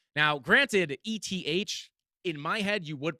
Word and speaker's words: ETH: call it erythrium i've had people call it f now granted e t h in my head you would pronounce f but uh eth is definitely the